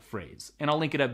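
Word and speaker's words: Frase: It's called Phrase. It just came out publicly. It's spelled F-R-A-S-E.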